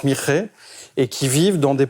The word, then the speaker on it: Mixe: ans parmi une population amérindienne du Mexique, les Mixe. Ça s'écrit mix, mais ça se prononce Mixe, et qui vivent dans des populations villageoises, paysannes, centrées sur la culture du maïs.